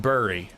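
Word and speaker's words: bury: Number one thing I can teach you about the English language is that bur y is pronounced bur. Don't let anyone tell you different.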